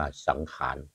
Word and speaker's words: สงกรานต์: ประเพณี รุ่น เริง วัน สงกรานต์ นะ หรือ วัน สังขาร ภาษา ภาษา ล้านนา เรา เรียก ว่า สังขาร คำ ว่า สงกรานต์ เ อ ออก เสียง ว่า สังขาร แล้ว มี คำ ว่า